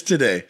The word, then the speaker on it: Taddei: Did I pronounce Taddei's last name? No. It's Taddei. Taddei? Yeah. Taddei.